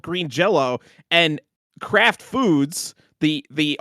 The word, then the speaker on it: Green Jellÿ: green jelly so so the Y still is pronounced as an O it is still pronounced as Green Jello somehow oh so so